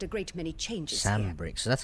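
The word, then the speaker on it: Sanbreque: Sandbrick. So that's how you pronounce it.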